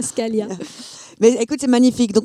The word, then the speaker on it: Scaglia: Si on prononce pas le G, Scalia.